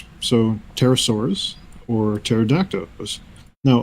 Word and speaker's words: pterosaurs: sorry that's nice a the P is silent pterosaurs or pterodactyls are flying